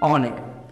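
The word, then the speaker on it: honour: এইচ সামনে থাকলেও এইচটা silent থাকে, আর উচ্চারণ হচ্ছে কি অনার।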